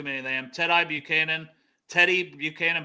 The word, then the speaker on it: Tedy: of them Tedy Buchanan Teddy Buchanan but it's spelled weird so I say it weird sometimes it's spelled like t e d d ye but I think it's still Teddy to be fair um